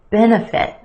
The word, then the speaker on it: benefit: second syllable economic benefit benefit three syllables here our emphasis on the first syllable the e benefit that second syllable that's where you'll find your schwa benefit individual individual five syllables